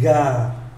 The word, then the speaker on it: gare: Khi phát âm cho chuẩn, chúng ta phải có cái âm e rồi một chút ở sau chữ une gare, une gare.